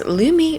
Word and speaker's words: Lume: game changer for me Lumi that's Lumi rhyming with gloi if you haven't tried